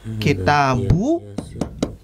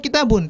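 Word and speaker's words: كتابُ: Kita lihat kitabu Muhammadin. Kitabu. Tidak kita baca kitabun. Tadi teman-teman ada yang membacanya kitabun, ya.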